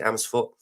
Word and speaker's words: Amersfoort: Is that pronounced correctly? Amersfoort?